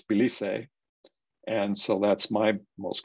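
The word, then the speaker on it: Belize: the of the map and we'll go to bailey's uh pronounced either baileys or baileys but in spanish it's bilise and so that's my most common pronunciation for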